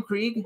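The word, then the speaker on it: Krige: ciphers Miko Hughes I love Miko Hughes Alice Krieg is that how you pronounce her name Craig yes she's the Borg she's my very she's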